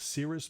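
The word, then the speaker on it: Cerys: It also has the song The Ballad of Tom Jones, which is a duet between Tommy Scott and, I think her name is pronounced Cirrus Matthews, from the band Catatonia.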